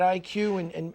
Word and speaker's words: EyeQ: I'll spell it out because when you hear it, you think just IQ, but it's spelled EYEQ because it's eye training.